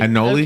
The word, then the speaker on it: anole: One of those little anole lizards. Yes, I saw one in my porch. As a matter of fact. Okay. Anole? Am I saying it right? Yeah, anole. Yeah.